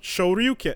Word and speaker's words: Shoryuken: the word is literally, the pronunciation is in the word Shoryuken. Like it's right there. So why would it be different from the thing that he's saying himself? It's that's dragon. It's Shoryuken.